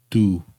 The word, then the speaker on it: 두: He says 두, 하나, 둘. So when we say the number 둘, but when we put it together with a counter like that, we get 두 장, 두 장.